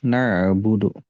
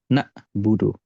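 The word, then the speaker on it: نَعْبُدُ: di huruf Ain nah perhatikan di sini huruf ainnya itu sukun ya na'budu huruf ainnya di sini sukun nah biasanya permasalahan dalam pengucapan huruf Ain yang sukun Itu adalah huruf ainnya seperti Hamzah atau huruf ainnya itu di jeda seperti ini contoh jedanya na buudu nah i IUD Nah itu dijedah ainnya itu terjedah iaka naudu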